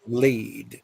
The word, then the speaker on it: lead: And so um, that's the exact same spelling, but a different pronunciation. But when it is a verb, it's lead and leading.